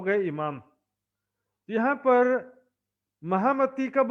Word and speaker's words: महामती: और इसका शुद्ध उच्चारण होता है महमत।